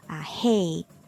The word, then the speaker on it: rei: When the R is at the beginning of a word, then it's pronounced as like the very similar to the H sound in English, like hospital.